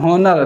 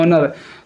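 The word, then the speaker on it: honour: वैसे यहाँ पे ऑनर, हॉनर लिखा, पढ़ तो सकते हैं हॉनर, लेकिन ये बोला क्या जाता है ऑनर।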